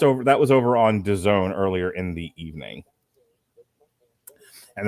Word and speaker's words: DAZN: All right, so there was another fight here on DAZN, which rhymes with calzone.